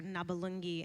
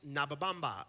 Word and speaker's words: Nabalungi: where Josh's character, Elder Cunningham, meets my character Nabalungi, has trouble both pronouncing it and remembering it, and what was it? Trey and Matt gave. There were scripted It names. actually just started off as Nababamba and like like you would just mispronounce it.